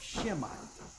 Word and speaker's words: Semite: a a a a a mispronunciation of shemite really that he cannot be anti-semite because we're Jews Jewish people or white people aren't the only shemites Arabs are shemites but